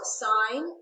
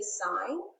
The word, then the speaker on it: sine: the box here so sine that's the full word s-i-n-e of angle a okay abbreviation is s-i-n but it's not pronounced sin math is not a sin so we still say sign but we abbreviate it